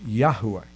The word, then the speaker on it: Yahweh: in casual conversation now probably a better pronunciation of the name of God is Yahweh because there is that that accentuated sound in the middle that most of us